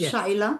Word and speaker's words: Shyla: So Shila, am I pronouncing your name correctly? Is it Shila? Yeah, correct. Shila.